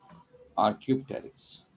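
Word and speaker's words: Archaeopteryx: य डायग्राम आपके सामने आर Q takes are Q means होता पुराना टेरेक्स प साइलेंट इसमें टेरेक्स पते इस टेरेक्स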